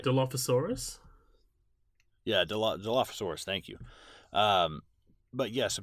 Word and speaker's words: Dilophosaurus: Yeah, Dilophosaurus, thank you.